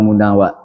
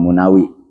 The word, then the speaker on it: Munawi: Berkatalah Imam Munawa. Ada yang juga membacanya Imam Munawi hasilsi miniunamah alarul hasil keaiban orang ya.